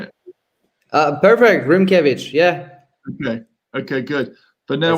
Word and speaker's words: Rimkiewicz: Perfect, Rimkiewicz.